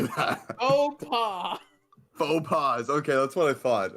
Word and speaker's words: faux pas: Faux pas. Okay, that's what I thought. Okay. The S is silent.